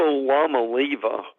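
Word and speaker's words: Iamaleava: pronounce that um and the only reason I do it is I divide it between the llama and Levi so that makes it a little easier for me but Joe Milton and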